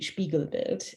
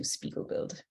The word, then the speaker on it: Spiegelbild: the German pronunciation would be Spiegelbild. The Canadian pronunciation is probably closer to Spiegelbild.